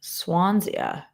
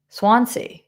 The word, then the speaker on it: Swansea: I have ice cream barn in Swansia. Where the is Swansia? Huh? Never heard of it. Just don't know it. Um, all right. Swansea.